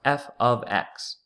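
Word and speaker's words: f(x): you'll notice in parentheses pronounce f ofx this is not f * x f ofx and what you're thinking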